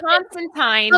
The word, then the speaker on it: Constantine: It's Constantine, rhymes with wine, like Clementine.